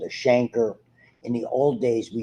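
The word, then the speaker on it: chancre: term did whatever reason they called it canker rather than Shanker which is the way to pronounce it so you had and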